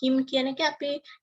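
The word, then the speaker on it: hymn: this hem right so h y m n but in this him the last n it is silent him right so then right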